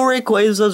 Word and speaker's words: Rayquaza: making of this video i don't know how everyone started pronouncing it rayquaza but it's apparently the most realistic pronunciation somehow because quasar and it's a similar word and stuff in and yeah that